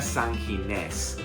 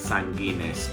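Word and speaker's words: San Ginés: And so, after the plaza, I had to go and find, I think it's actually pronounced La Chocolateria San Gines. I was calling it San Gines, but that's bad Spanish, Matt.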